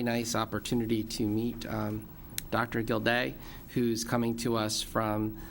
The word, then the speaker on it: Gildea: Jill Gildea, pronouncing that right? Gildea?